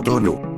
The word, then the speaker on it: Tuna: cabeza de una idla llamada tuna pronunciado tonu cuando la Diosa de